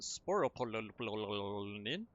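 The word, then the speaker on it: sporopollenin: And so this is sporopolylene. Yes, that's exactly how it's pronounced.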